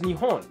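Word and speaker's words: 日本: anyways the kanji for Japan are read as nion as to how this works well there are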